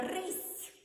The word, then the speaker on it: рись: с с прочитаємо рис Я не хочу написати рис Я хочу написати рись Як же мені показати що в цьому слові с м'який Я знаю потрібен ще Який значок що буде показувати на м'яку вимову звука с Знайомтесь літера м'який знак запам'ятайте літера м'який знак ніякого звука не позначає вона позначає м'якість попереднього приголосного А ось тепер можемо